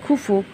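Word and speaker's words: Khufu: The pyramids R of the pyramids of খুফু এটা হবে খুফু, এটা উচ্চারণটা হবে খুফু at Giza is the largest Egyptian pyramids.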